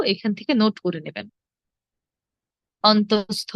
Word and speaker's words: অন্তস্থ: পারবো লিখে দিচ্ছি হ্যাঁ প্রথমটি হলো অন্তস্থ অন্তস্থিয় নয় আমরা অন্তস্থিয় বলি অনেকে এটা অন্তস্থীয় হবে না এটা হবে অন্তস্থ তারপর খন্ড ত খন্ডের